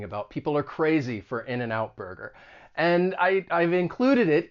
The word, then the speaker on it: In-N-Out Burger: it even though you you say it like it's spelled in and out burger but it's a great example of linking because people will typically say this quickly in and out burger so that final consonant sound is going to get